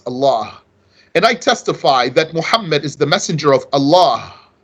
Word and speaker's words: Muhammad: He's not pronouncing the ha, letter ha. Muhammad, very important.